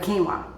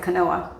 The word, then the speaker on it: quinoa: There's so many things that you can do with quinoa. Q U I N O A is quinoa. And somebody used to pronounce it canoa, right?